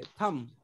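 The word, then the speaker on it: thumb: थंब नहीं बोलेंगे, थंब। Bomb नहीं बोलेंगे, बॉम्ब। डेब्ट नहीं बोलेंगे, डेट, DET। यानी बी को साइलेंट कर लो।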